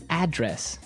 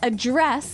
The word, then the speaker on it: address: Now, if you notice, it's spelled the same way as address, That's right. but you pronounce it differently. So the verb address has the stress on the second syllable.